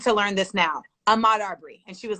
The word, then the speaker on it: Arbery: you can't pronounce Ahmaud Arbery? First of all, the word Arbery is actually it may not be spelled the same, but it is pronounced the name. It's a study of trees.